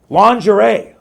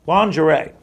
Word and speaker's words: lingerie: Lingerie. You know, and it's spelled, let's go back to that one here. Lingerie. How does that sound like lingerie? I would put like a lounge airy for lingerie.